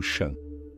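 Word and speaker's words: Chan: Este era o Shan, a pronúncia chinesa da palavra sânscrita dhyana, que significa contemplação, meditação.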